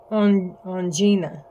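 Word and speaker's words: Ongina: you know, I think I said her name wrong. You know, now that I look a little closer at it, I said on on it's on on Gina.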